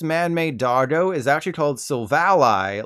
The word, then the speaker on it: Silvally: of the easiest names in Pokemon history to pronounce it's literally type null the evolution isn't I've have been calling it silvally like ain't no valley low enough but this man-made dardo is actually told silvalai like Ally we're learning so much today also